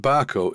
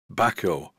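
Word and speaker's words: Bahco: The word Barco is spelt B-A-H-C-O. One viewer said, "It's not Barco, spelt B-A-R-C-O." And yes, I am aware of that. I think the pronunciation should be something like Baco.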